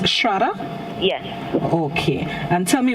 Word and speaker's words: Shraddha: And it's pronounced Shraddha?